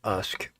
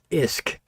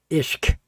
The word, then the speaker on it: Usk: Well, it's not actually Usk, just so you know. It's pronounced Isk.